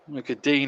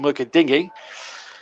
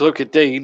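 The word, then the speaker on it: Lucas Digne: look at dean is the correct pronunciation i'm told although some commentators still call him look at dingy but it's look at dean i'm told and i'm going with the perception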